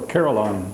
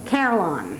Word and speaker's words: carillon: Carillon. Carillon.